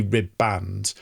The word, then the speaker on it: ribband: of a ship and that is pronounced like essentially ribb band but the the the ribbon that we're talking about which is you know essentially like a ribbon.